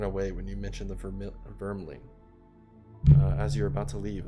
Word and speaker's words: Vermling: Vermling.